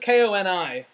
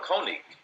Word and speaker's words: Koenig: That's Koenig. That's Koenig. Koenig, yeah. Yeah. But it's spelled the same. The first part is spelled the same. I thought that's just Koni. Oh, no. Koenig.